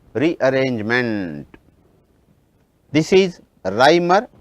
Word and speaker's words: Reimer: If you come across any name where you have the letters E and I, the pronunciation should be I. For example, REIMER, Reimer, the name is Reimer. If you get the letters I and E, then it should be E, therefore, it should be Freeze rearrangement.